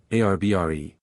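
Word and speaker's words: arbre: same way he was taught to pronounce ape sing and tree ARB re he was a most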